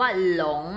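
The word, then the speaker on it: 龙: หลง หลง นะ คะ คำ นี้ ออก เสียง ว่า หลง นะ ลูก หลง แปล ว่า มังกร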